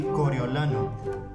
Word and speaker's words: Coriolano: In Spanish, before we finish this, allow me to present to you the name of the pronunciation of this one in Spanish, which is supposed to be Coriolano.